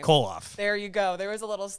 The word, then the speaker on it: Kollauf: Lauren, pronounce her last name. Kollauf.